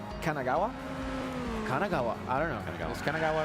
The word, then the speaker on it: Kanagawa: old from uh Kanagawa Kanagawa I don't know Kanagawa right right that correct I said it right